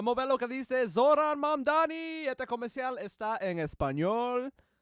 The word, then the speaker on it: Mamdani: Fíjense, nadie sabe pronunciar mi apellido. Es Mamdani, pero a cada rato me dicen Mundari.